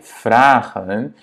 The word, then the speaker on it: vragen: Parce qu'il y a voyelle, consonne, voyelle. Ça fait par défaut, en fait, ça fait que le premier A est prononcé de manière longue, ok?